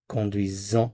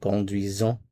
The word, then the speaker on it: conduisons: z Notice the sound here. This is conduisent. Conduisons. Notice the z sound. Conduisons.